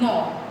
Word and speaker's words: knob: So we call it knob. What we call it? Knob. Sound न से begin हो रही है, that means N से होगा. But we write this word from K. K is silent here.